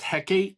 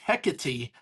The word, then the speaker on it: Hecate: It is not pronounced I have never heard it pronounced heck until this. I have always pronounced it hecati because it's like it's like saying it's like calling pphanany persafone, right?